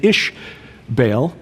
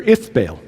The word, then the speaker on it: Ithbaal: Jezebel's father was a man named Ishbaal, or Ithbaal. Same thing, just different pronunciation. The Phoenicians said Ith, where the Israelites said Ish.